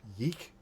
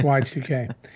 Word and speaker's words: YIIK: podcasts and news sites pronounce it yeek because it looks like YIIK, Yes. and I'm like, no, that's not how it's pronounced. It's Y2K.